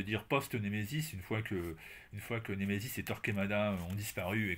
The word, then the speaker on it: Némésis: Alors je le dis à la française, hein, mais c'est une revue anglaise, donc la prononciation de départ, évidemment, ce n'est pas celle-ci.